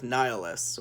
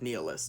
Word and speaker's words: Nihilus: three main villains from that video game, Darth Nihilus, or Darth Nihilus, depending on how you personally prefer to pronounce it.